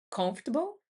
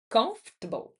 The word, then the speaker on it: comfortable: pessoal tem muita dificuldade, é comfortable, que é um conf, que é o principal, a sílaba tônica, table, né? Então, comfortable é isso, certo?